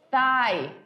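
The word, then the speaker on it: thigh: o coxão Aí dependendo é o Thai com aquela questão do th do th que aqu aquela é um tipo de pronúncia que nós não temos no português e é uma das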